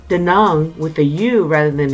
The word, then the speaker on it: Da Nang: by cash FYI da na ng is commonly pronounced 'da name but it's pronounced the numb with the you rather than an a locally